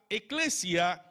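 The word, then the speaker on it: ἐκκλησία: la iglesia la iglesia en griego se pronuncia eclesia que significa asamblea esta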